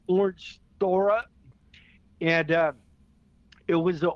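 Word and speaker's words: Orangethorpe: And I I called the street Orange Throw Up because I couldn't pronounce it. It's Orange Thor.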